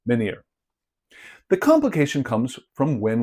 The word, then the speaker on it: menir: And in Portuguese, we use the same word, but without an H, and it is pronounced menhir.